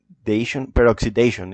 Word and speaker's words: peroxidation: Wait, how do you pronounce it? Word? Peroxidi, peroxidation.